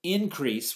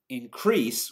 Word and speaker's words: increase: So, for example, increase would be a noun, meishi, and increase would be a verb.